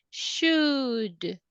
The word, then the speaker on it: should: So we say should. Imagine that the letter L is not there. It doesn't sound.